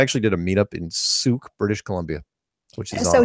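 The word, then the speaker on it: Sooke: oh and of course I kept pronouncing it wrong because being American and following True Blood the television series the lead character's name was Suki oh I get it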